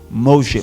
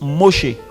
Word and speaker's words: Moshe: On dit quoi? Moshe. Moshe là, Moïse là. Eux ils prononcent Moshe. Les Israéliens prononcent Moshe.